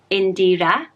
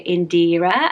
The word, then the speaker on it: Indira: say this right, so I think you say Indira with a stronger A sound at the end, whereas I think in Britain we might go Indira and focus on the E sound, but it's Indira, and I really like it.